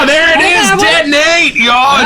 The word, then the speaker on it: Deton-8: All year I've been saying Denton-8. Yeah, we were Spice being Bomb, very Deton-8.